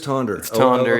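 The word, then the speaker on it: Tønder: it's this festival called tuna tonder if you're pronouncing it like I used to oh so it is tonder yeah but it wasn't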